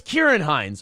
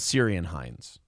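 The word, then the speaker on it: Ciarán Hinds: Pig Riser says it's a hard C. It's Kieran Hines. Well, then you know what? I apologize to the man I called Syrian Hines.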